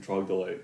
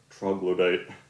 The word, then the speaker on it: troglodyte: I'm saying trogdolite, which is my preferred mispronunciation of troglodyte.